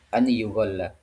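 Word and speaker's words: أَنْ يُغَلَّ: Maka di qiraat Asim yaitu bacaan kita, kemudian Ibnu Katsir, Abu Amr itu dibacanya an yughal seperti ini ya. An yughalla. Dibaca an yughalla.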